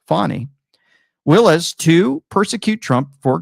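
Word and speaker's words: Fani: one prosecutor engaged by Fanny pronounced fonny Willis to persecute Trump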